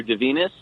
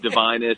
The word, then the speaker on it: Divinus: to get it wrong so uh from a pronunciation standpoint uh the graphic novel is forbidden surgeries of the hideous doctor de venus okay but the venus is a made-up name so if you said divinus or one of the other pronunciations i've heard